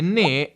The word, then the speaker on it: ne: Attenzione, ne è un pronome atono, l'accento non cade mai su ne, si attacca nella pronuncia alle parole che seguono.